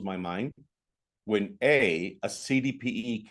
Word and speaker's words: CDPE: when a a cdpe cannot even pronounce the initials in the right order I have agents that will say I'm a COPD and I'll go iy I'm sorry that must be rough it's not COPD people it's CDP certified distressed